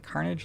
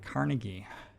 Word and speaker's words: Carnage: Pronouncing Carnage like Carnegie. A little funny.